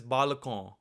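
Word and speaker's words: बालकों: However, this word is actually read as balakon.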